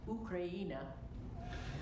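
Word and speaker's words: Україна: In the Ukrainian language, the country name Ukraine is pronounced Ukraina.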